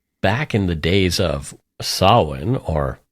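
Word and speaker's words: Samhain: um people believe back in the days of Sinn or it's it's spelled like Sam Hayne but it's pronounced Sinn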